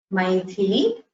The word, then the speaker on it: Maithili: Both should have Mahaprana. You should pronounce it with the Maithili, Kamadhenu.